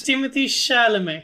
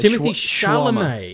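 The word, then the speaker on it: Timothée Chalamet: It's Timothy Chalamet. Yeah, it's Timothy Chalamet.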